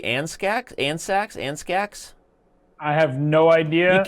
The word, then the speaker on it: Andscacs: Which is why I guess we're pronouncing the C silently in Andscacs, right?